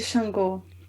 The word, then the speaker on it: Xangô: called Canto de Shango, if I pronounce it correctly. Yes, Canto de Xangô. Yeah. Shango, nice.